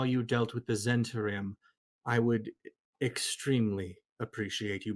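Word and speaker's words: Zhentarim: pronunciation guide i i i hear zentarim as the pronunciation consistently so i'm i go with that just because that's what i hear a lot how do one is already too many it's got a silent h in it so the captions got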